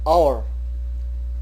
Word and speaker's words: hour: So when the first alphabet is H in a noun, but the pronunciation starts with a or o, then we use n before that noun.